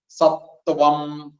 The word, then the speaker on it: സത്വം: പിന്നെ ത്വം, ത്വം എന്നൊക്കെ പറയുമ്പോൾ ശ്രദ്ധിക്കണം, ഞാൻ നേരത്തെ പറഞ്ഞിട്ടുണ്ടെന്ന് തോന്നുന്നു. ത് വ് ആ അനുസ്വാരമാണ് ത്വം. അത് ചിലരൊക്കെ പറയുമ്പോ സത്വം എന്നുള്ളത് ത്വം എന്നായി പോകും. സത്വം, ആ രീതിയിൽ ചിലർക്കൊക്കെ ഉച്ചാരണം അങ്ങനെ വരും. അതൊന്ന് ശ്രദ്ധിക്കണം. സത്വം, ത്വം. വാ വരണം. സത്വം.